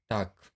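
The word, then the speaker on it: talk: तो आगे देखते हैं अब के से पहले, यहाँ के से पहले भी यल आया हुआ है, तो इसको भी हम यल का उच्चारण नहीं करेंगे। जैसे टाक, वाक, चाक।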